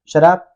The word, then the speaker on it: शराब: ज्या शराब, यानी कि तालाब शाह और रा, तो बहुत सारा बोलता है सरा, इसको शराब बोलेंगे, है कि नहीं।